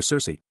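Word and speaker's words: Circe: of the Odyssey where Cersei pronounced with the hard CH sound as the daughter of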